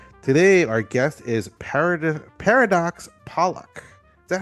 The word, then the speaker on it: Pollock: Today, our guest is Paradox Pollack. Is that how you pronounce it? Pollock.